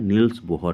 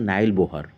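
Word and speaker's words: Niels Bohr: ठीक है, या आपके जो टीचर होंगे कुछ प्रोनाउंस करेंगे नाइल बोहर या नाइल बोर, या कोई बोलेगा नील्स बोर, कुछ लोग बोलेंगे नील्स बोहर, कुछ लोग बोलेंगे नाइल बोहर। ठीक है, तो different different teacher different different pronunciation करेंगे, तो आपको उससे कंफ्यूज नहीं होना है, ये सब एक ही चीज़ है।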